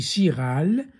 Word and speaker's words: chiral: Ça s'écrit chiral et ça se lit chiral.